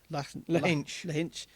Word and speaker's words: Lahinch: And have you got any idea how you pronounce that? Lahinch.